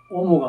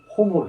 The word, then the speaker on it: homo: 흐로 발음해 줘야 돼. 그래서 오모가 아니고 호모로 해줘야 됩니다.